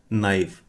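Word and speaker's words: knife: और इंग्लिश में बोलते हैं नाइफ। इसमें के साइलेंट रहता है। इसमें के बोला नहीं जाता। तो, इसको बोलते हैं नाइफ।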